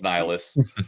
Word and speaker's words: Nihilus: Nihilus, It seemed to be different pronunciations. Whatever. No, it's Nihilus. Whatever.